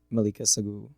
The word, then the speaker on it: Mallika Saggoo: Welcome, everyone, to our very first episode of UM-ULH Presents Finding Your Path with Brett Torres and Mallika Saggoo. Did I pronounce that right?